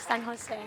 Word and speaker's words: San Jose: Well, Tagalog is San Jose. San Jose. Yeah. Okay. But I do get called San Jose Say, that's typically. in Australia.